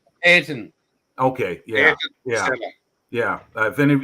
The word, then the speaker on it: Ayrton: Can you help me pronounce the name? Senna? Ayrton or I can't. Ayrton.